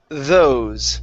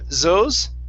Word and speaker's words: those: we have the word those okay instead of zos okay make sure your tongue is between your teeth those try that good now um